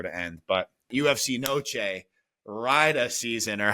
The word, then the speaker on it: Riyadh: But UFC Noche, Rida season, or how do you say that word? Riyadh season.